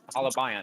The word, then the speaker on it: holobiont: So do you think that there's how do you pronounce it, by the way? Halabiant? Holobiont? Halabiant.